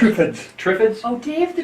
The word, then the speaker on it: Triffids: And is that Thippids? How's that pronounced? Triffids.